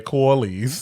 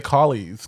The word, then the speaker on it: colleagues: Buddy because I thought I was gonna say coolies that is not an o but Collies let's try to say colleagues because it's c-a-l-l call I can yeah I